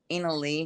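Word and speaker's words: Inalis: It's ena lee because it's like the flirtilly but the s is silent but it's spelled I a m i n a l i s.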